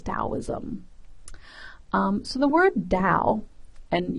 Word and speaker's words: Dao: um so the word Dao and you'll also see this word spelled with a t ta so to or da it's the same thing um this word Dao